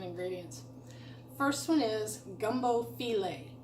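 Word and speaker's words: filé: very specific Cajun ingredients first one is gumbo feeling it's spelled like file1 file2 can pick this up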